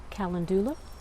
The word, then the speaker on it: calendula: is my calendula plant depending on where you're from you might pronounce it calendula it is struggling big